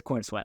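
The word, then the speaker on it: Corenswet: God, I'm going to say his name wrong all the time. David god I corn it is corn sweat.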